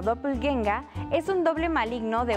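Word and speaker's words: Doppelgänger: tienen palabras para todo un dopel ganger que se pronuncia como dople genga es un doble maligno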